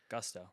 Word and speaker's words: Gusto: Gusto.